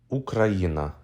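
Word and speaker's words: Україна: letters this word means everything to ukrainians let's spell it letter by letter ooh Ka ER ah ye n ah ukraina this is how you say Ukraine in Ukrainian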